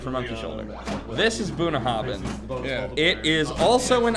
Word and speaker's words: Bunnahabhain: 2x, Bunnahabhain is how you pronounce that. Bunnahabhain.